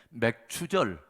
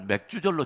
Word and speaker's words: 맥추절: 꼭 경기가 될 것은 발음을 잘해야 된다는 것입니다 맥주가 아니라 맥 춥니다 어 그래서 이 날을 맥주 절로 지키시면 안돼요 맥추 절입니다 자 그 다음에 여러분